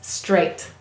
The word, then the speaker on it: straight: what it says because here we have the a phonogram followed by the gh which is silent or says the sounds so here it says straight excellent the next word